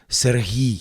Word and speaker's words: Serhii: We could teach the audience the difference between the Russian pronunciation Sergei. Yeah, because that's common and people. It's in their brains, right? I know, that's the thing. But you are called in Ukraine. We have a softer he, Serhii.